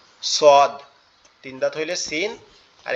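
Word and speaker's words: ص: আর এইটুকু হইলে সদ এই সদটা কোথা থেকে উচ্চারণ হবে সদটাও ঠিক একই জায়গা থেকে আমাদের জিহ্বার আগা নিচের দুই দাতের আগার সঙ্গে লাগবে লেগে উচ্চারিত হবে সদ সদ সদ সদ এভাবে এভাবে ছোদ ছোয়াদ এভাবে উচ্চারিত হবে।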